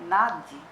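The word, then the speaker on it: nāḍī: tá aqui ou Nadia é uma palavra sânsito de gênero feminino cuja pronúncia é Nadir ambas as sílabas são fortes na diz são canais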